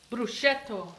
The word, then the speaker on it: prosciutto: What's it pronounced? Prosciutto.